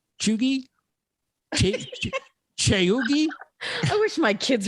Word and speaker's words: cheugy: I don't even know how to pronounce this. It's Cheugy. Cheggy? Chugi?